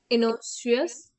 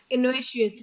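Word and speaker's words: innocuous: इन इनोशियस, pronunciation आपको एक बार पढ़ रही हैं तभी हो पाएगी, प्रोनाउंसिएशन इनकी थोड़ी टफ है। इन इनोशियस आपको देखना है, इन ओ सी यू ओ यू एस, इनोशियस, इनोशियस।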